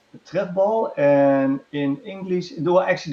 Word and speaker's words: trefbal: And how do you pronounce it in Dutch? Trefbal. Oh gosh, Tiechtbal? Tref. Trefbal.